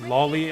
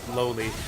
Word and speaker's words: Loli: I guess Lolly, I should say. Everyone else says Lolly. I always pronounced it Loli. Like, it's Loli, right? It's short for Loli. For Lolita. It's Loli, but everyone says Lolly.